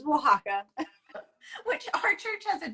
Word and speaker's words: Oaxaca: It's Oaxaca.